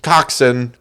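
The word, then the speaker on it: coxswain: called the the W coxen coxen coxen Cox Swain Co is how it's spelled Sweeny Todd the coxen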